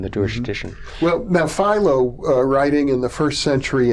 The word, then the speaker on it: Philo: again I go through would have pronounced it Philo necessarily I don't know that my pronunciation is any better than me all right but I Philo judea's okay that from from there I've been advised that filo is the correct pronunciation is that the Greek